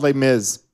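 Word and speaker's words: Les Mis: Uh, but there was a a musical there's a musical called lay miz and it's actually spelled lay miserable but it's just layiz for some reason we don't pronounce most of the word.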